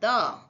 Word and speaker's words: the: अब देखते हैं प्रांसलेशन ऑफ द। द का हाउ to prolate. द pros दी आपको द को नहीं बोलना है दी बोलना है।